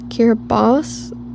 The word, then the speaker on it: Kiribati: Now, I think it's supposed to be pronounced Kiribati, apparently.